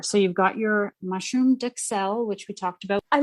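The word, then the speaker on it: duxelles: So you've got your mushroom duxelle, which we talked about. I looked up the pronunciation on duxelle. Duxelle. A U in French has a very ooh.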